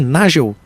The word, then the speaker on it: Nagel: Nós estamos de volta com o Pulso Empreendedor, o seu programa de empreendedorismo, hoje conversando com o Nagel. É assim que pronuncia o sobrenome? Nagel?